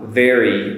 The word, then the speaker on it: very: So very and wary. Now they rhyme. And the only difference is the V for very and the W for wary.